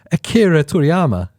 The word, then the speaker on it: Akira Toriyama: It is Akira Toriyama.